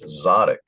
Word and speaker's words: Zadok: Z A D O K. Zodic. Zotic. No. Okay. I am not pronouncing it correctly. It's Zotic. So that was 1 kings 4:4.